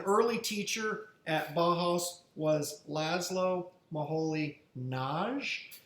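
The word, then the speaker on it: László Moholy-Nagy: teacher at bahaus was laszlo maholi naj that's how you pronounce his name and he was really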